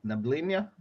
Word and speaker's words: Neblina: Neblina.